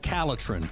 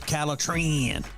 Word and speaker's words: Calitrin: If you want to sleep better and lose weight, then the product that you need is called Calitrin, or you can pronounce it Calitrin.